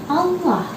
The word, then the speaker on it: Allah: Nah, yang kedua ada lafdzul jalalah atau kalimat Allah sebelumnya berharokat dhamma. Contohnya Abdullahi. Lafdzul jalalah sebelumnya berharokat dhamma. Nah, ini disebut lam tebal atau mufakhamah. Dibacanya tebal.